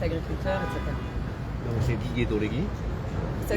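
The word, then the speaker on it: Dolheguy: Donc c'est Didier Dolegui. Ça s'écrit, ouais.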